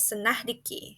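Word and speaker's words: synecdoche: It's pronounced as Senahdiki. Senahdiki is a type of figurative language that uses one part to refer to the whole.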